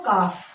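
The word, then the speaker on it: calf: ऐसे ही देखो काफ, ये एल कहाँ गया? ये साइलेंट हो गया, इसके लिए यहाँ पे कोई उच्चारण नहीं।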